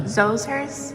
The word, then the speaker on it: Djoser: How do you say Djoser? Say it for me. Yeah. Djoser's?